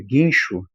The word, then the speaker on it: guincho: Quando eu falo eh eh guincho, né? Precisei de um guincho. Guincho, esse GU eu pronuncio num num só um só, né?